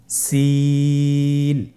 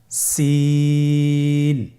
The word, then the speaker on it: সিন: সিন হরফটি উচ্চারণ ক্ষেত্রে অবশ্যই তিন আলিফ টেনে পড়তে হবে। সিন হরফটি বারিক হরফ পাতলা করে উচ্চারণ করতে হবে। তাহলে আমার সাথে বলুন সিন আবার বলুন সিন মাশাআল্লাহ।